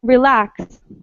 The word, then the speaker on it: relax: What about relax? Relax. At the beginning. Second syllable. Relax. I think lax because Yeah, it's the second part.